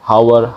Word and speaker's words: hour: Walaupun menggunakan huruf H, tapi ketika diucapkan tidak H, hour, honor, hair, no. An air, an honor, an hour.